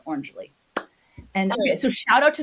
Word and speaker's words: Orangily: Think of it of as like if you smooshed orange and happily together. Orangely, okay, so shout out to Maven Space.